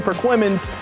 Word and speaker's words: Perquimans: Like normal, Tarboro hosting Perquimans.